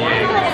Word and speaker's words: Yang: No, like how do you pronounce it? Yang, I just say Yang.